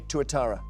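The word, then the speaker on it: tuatara: Um, could you spell it? Yes, it is just one word. T U A T A R A. Touittara.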